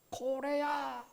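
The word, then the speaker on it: Corea: 코레아, 코레아. 코레아는 코리아를 그쪽 발음으로 하는 표현인데요.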